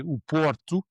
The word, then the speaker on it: Porto: So when I said Porto, I tried to use the standard English way of pronouncing Porto, but of course you'd say o Porto.